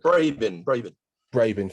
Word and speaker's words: Brabin: Tracy Brabin, I know I've pronounced that horribly wrong. Brabin, thank you.